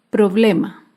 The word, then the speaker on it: problema: grave sin tilde es la palabra problema el problema se acentúa en la penúltima sílaba pero no lleva tilde porque termina en vocal problema acá vemos otro ejemplo